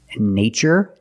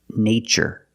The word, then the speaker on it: nature: These two words, nature and natural. We see the spelling pattern, T-U-R-E. In this spelling pattern, T is pronounced with the ch sound, like chicken.